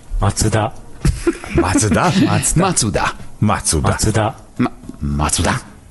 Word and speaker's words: Mazda: Mutatom a Mazdát, merthogy ugye hát ez is egy japán márka és egyáltalán nem úgy szól, ahogy egyébként ennek szólnia kéne, vagy ahogy mi mondjuk ez a Mazda helyes kiejtésse. Macuda.